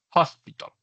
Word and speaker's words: hospital: Todas las palabras que comiencen con h inglés se pronuncian como si comenzaran en J. ¿vale? hospital, eh supermercado es supermarkets, ¿vale?